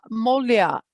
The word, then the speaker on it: Molia: look just double check uh molia if i'm pronouncing it correctly yes you got it right uh this is molia